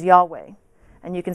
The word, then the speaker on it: Yahweh: It used to be pronounced by the Jewish people thousands of years ago, and most scholars believe that the correct pronunciation is Yahweh.